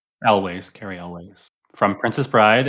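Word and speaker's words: Elwes: Elways. Okay. Dion looked it up. That's how you pronounce it? Elways.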